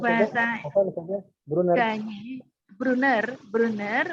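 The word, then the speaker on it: Gagné: Ganyi, Brunner, kemudian Ganyi tulisannya Gagner ya. Gagner tapi Gagner. bacanya Ganyi ya.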